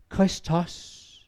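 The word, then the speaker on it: Χριστός: Og de der kender lidt til det græske sprog, those that know some of the Greek language, at Kristus skal udtales Kristos.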